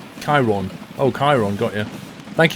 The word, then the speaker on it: Kieron: PS name is pronounced Chiron.